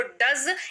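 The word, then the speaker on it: does: हैं क्या है डज डी ओ ई एस पढ़ते हैं इसको डज इसका अर्थ होता है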